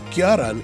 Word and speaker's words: Galant: after the Mitsubishi Kalan it's actually pronounced garan in Japan and and has been